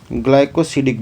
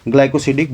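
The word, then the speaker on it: glycosidic: इसको हम बोलते हैं ग्लाइकोसिडिक बॉन्ड। क्या बोलते हैं? इसका स्पेलिंग बता देता हूं।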